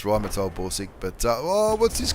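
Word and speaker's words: Rheinmetall: I know it's pronounced Rhymatold Borsig, but oh, what's this guy doing?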